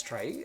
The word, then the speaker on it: trie: So, yeah, without further ado, let's get started with uh implement try, a prefix tree, right? So, as the problem statement goes, a try, pronounced as try, a prefix tree, is a tree data structure